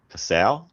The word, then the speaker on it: Passau: So this is Passau, which I'm 100% sure is the way you pronounce that.